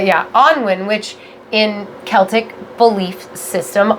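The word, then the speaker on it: Annwn: and having this cauldron and having her own Onwin. Yes. Is that how you say it? Yeah, Onwin, which in Celtic belief system, Onwin is kind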